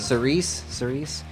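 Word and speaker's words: Cirice: Is it Sarici? Is that the name of the song? Cerise, or- I think. Cerise. Very, very good.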